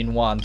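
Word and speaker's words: Ningguang: You don't pronounce after G's, you kind of go Ningguan sort of thing.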